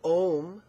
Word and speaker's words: om: Mani pme wh so om rhymes with the word whom ma is which you